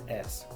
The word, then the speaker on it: crayons: So the way you pronounce it is crans.